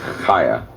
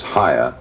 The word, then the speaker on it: Chaia: It really should be pronounced the American pronunciation would be kaya and the Israeli pronunciation is Haya without the hard C.